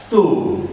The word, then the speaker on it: stove: it is pronounced as stove because there is a silent letter e affecting the closest vow